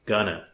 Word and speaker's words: going to: eat for lunch note native english speakers often pronounce going to like ghana for example instead of